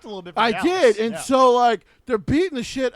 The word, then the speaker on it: Gallus: It's just Gallus. I wasn't sure how to spell it.